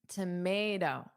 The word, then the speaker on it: tomato: Now native English speakers in North America, we would pronounce the final t as a soft d. I wouldn't say toe when it becomes unstressed. I would say do a soft do tomato.